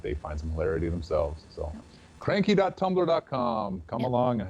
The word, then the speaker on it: Cranquis: find some hilarity themselves cranky tumblr calm come along and have some fun yep and cranky spelled CRA n Q u is pronounced like the French Marquis of course yes and